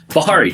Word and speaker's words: Bihary: Dutch how do you say your last name Bahari Dutch Bahari Dutch Bahari do I got to